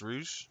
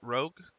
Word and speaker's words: rouge: her by the way this is pronounced rouge not rogue in case anybody is